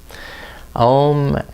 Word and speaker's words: Om: Chanting Om together three times. Om as three syllables. A u m and the fourth is silent so that we can listen within. So listen to your voice.